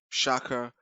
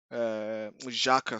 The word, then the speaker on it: Xhaka: it looked like the triggers were Shaka, Xhaka. Sorry, I don't know why I pronounce it Shaka.